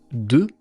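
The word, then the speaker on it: deux: Par exemple, le 2 de 1 2 3, il y a un x à la fin qu'on ne prononce pas.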